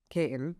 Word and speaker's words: Katin: As the vice president of sales for Katin, am I saying it right? You're saying it correctly.